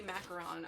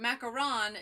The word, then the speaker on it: macaron: First off, a macaroon is coconut based, where a macaron is meringue based. Which are you trying to say? Well, the pencil. It must be macaron, that's what it is, because it's not spelled with two O's, so pink macaron is what it's called.